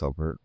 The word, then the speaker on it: SUBvert: It is actually pronounced SUBvert.